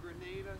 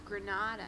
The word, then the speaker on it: Granada: We're number 90 North Grenada Circle, Casa Grande, Arizona. What's the matter, Therese? Say it, Therese. It's not how you say it. What, Casa Grande? It's Granada, not Grenada.